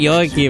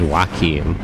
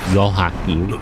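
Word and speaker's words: Joachim: But oh, it is actually it is actually Yakim. It's the Jewish pronunciation. That's funny. I was wondering if it was wim, but it's actually Yohakim.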